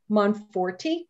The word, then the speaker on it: Monforti: Our second place winner this year is Megan Monforti. Did I say it right? You did.